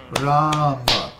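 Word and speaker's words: राम: Then Rama, Ram has a long A, and Ma has a short A. So Rama is pronounced Rama.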